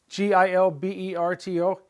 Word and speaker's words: Gilberto: It's he, hey, like he in Gilberto, Gilberto. It's not Gilberto, Gilberto, Gilberto. G followed by an I is soft.